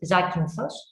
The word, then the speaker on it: Zakynthos: For foreigners, it is Zande sometimes, but it is Zakynthos.